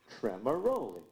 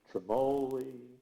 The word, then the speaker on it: Tremaroli: even some Lions now my name is pronounced tremaroli tremaroli but when people see all those vowels they get all mixed up so instead of saying tremaroli it comes out tremoli and the best one